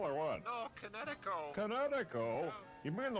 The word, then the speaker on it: Kinetico: Oh, son, you should have remembered kinetic as in kinetic energy with an O on the end.